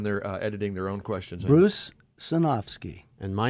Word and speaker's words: Bruce Sinofsky: say your name so everybody knows how to pronounce them correctly when they're editing their own questions Bruce sinowski and my name is Joe Berlinger before filming